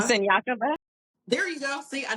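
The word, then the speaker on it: Siniakova: And I'm going to pronounce the girl's name wrong. Sinkova. Senyakova?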